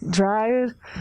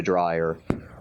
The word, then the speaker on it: Dreyer: Uma pequena observação, na própria Dinamarca, eles chamam o cineasta de Dreyer. Muita gente aqui pronuncia o nome dele como Dreyer. Eu simplesmente me acostumei com Dreyer, então, e você também, então, a gente vai pronunciar o nome assim.